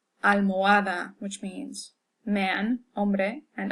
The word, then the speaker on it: almohada: So when you see an H, you can pretty much ignore it as far as pronunciation is concerned. So, hola, hombre, almohada, which means man, hombre, and almohada is pillow.